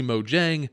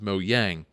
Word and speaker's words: Mojang: the company name and said that it is now officially Mojang, not Mojang.